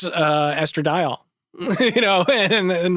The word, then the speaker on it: estradiol: There was like a scientific thing in it, and someone was like, how do you pronounce this? I'm like, oh, it's estradiol.